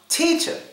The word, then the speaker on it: teacher: think it's awah sound well this word is pronounced teacher teacher teacher and well the schah sound is